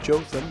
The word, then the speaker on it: Jotham: Jotham, I owe an apology to, because on previous episodes I called him Jotham, mispronouncing his name, and I just want to correct that. It is Jotham.